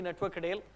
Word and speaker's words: Natwar Kadel: most of the time my name is pronounced was wrongly I'm actually network Adel I born and raised